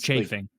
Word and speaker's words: chafing: It's chafing. Like church. Like church.